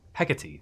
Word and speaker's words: Hecate: Hecate. That's how they pronounce it here.